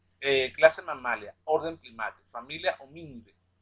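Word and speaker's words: Hominidae: mamalia, filum Chordata, clase mamalia, orden primate, familia homínide, y es importante, ese AE se pronuncia D, homínide, no van a estar diciendo hominidades.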